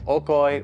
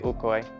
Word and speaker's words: Okoy: Sometimes you'll see it spelled with the letter O. They're the same exact thing. They're interchangeable. Okcoy. Ukoy. Same thing.